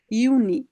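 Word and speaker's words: Juni: হ্যাঁ, ইয়োট বারবার আসতেছে, ইয়োট, ইয়োটের উচ্চারণ ইর মতো হবে, তাহলে ইউনি।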